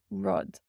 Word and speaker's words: rud: And lastly we have, our 'u' in 'rud' rud means thing in Irish rud and that's pronounced like the u in English.